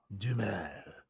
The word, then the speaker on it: Duhamel: The H is silent. Duhamel.